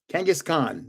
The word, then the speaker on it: Kangaskhan: Kangaskhan. That's how you say it.